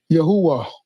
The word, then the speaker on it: Yahweh: Yahwh. That's what they that's that's how you pronounce it, of course.